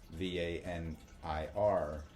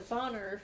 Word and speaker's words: Vanir: S-I-R, and then what I have deciphered as Vanir, V-A-N-I-R, which you pronounce as Vanir.